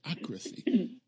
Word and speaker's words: sociocracy: And I also need you to pronounce Sociocracy. Sociocracy. Sociocracy. Okay. That's it. You got it. Sociocracy.